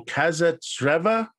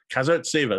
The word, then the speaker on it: Kazartseva: I believe it's Ekaterina Kazartseva. Kazartseva, there you go. Actually pronouncing all of the consonants this time.